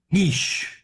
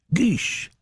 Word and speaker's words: Guix: Guix. Guix.